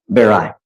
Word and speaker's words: Barrio: Is it Baroy? How do I pronounce it? Barai.